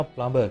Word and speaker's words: plumber: බොහෝ අය ජලනල කාර්මිකයට කියනවා plumber කියලා. Plumber. It is fair that people mispronounce this word as plumber because there is a B in the word, a letter B in the word.